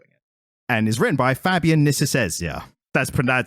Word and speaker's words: Fabian Nicieza: And is written by Fabian Nicieza.